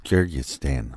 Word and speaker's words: Kyrgyzstan: Kyrgyzstan.